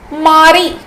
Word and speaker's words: mari: okay what about husband in French husband is Mari Mari Mari Mari married yes Mari